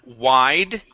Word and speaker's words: wide: Let's go to the word wide. Okay, make sure to pronounce that D there.